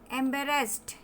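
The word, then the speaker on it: embarrassed: एम्बेरेस्ड. एम्बेरेस्ड. ए और ई जहाँ पे एक साथ दिख रहे हैं ए उच्चारण देगा. ए और ई मिलकर देगा ए.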